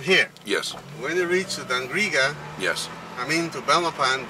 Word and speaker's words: Dangriga: Dangriga.